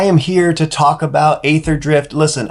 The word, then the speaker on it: Aetherdrift: here to talk about ather drift listen I know that's probably pronounced ether drift and I also know